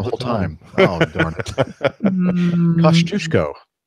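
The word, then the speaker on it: Kościuszko: Kosciuszko is the way that you pronounce this.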